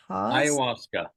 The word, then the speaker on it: ayahuasca: As a psychotherapist, teacher, author, and mastery teacher of Christian, I can't pronounce this one, ayahuasca. Ayahuasca.